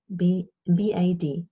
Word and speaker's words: Bad: So when you spell something with the D, like the German word bath is B-A-D, bad, bad. But the D is pronounced like a T because it's at the end of a word.